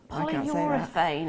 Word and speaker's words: polyurethane: Polyurethane, apparently, is how you say it.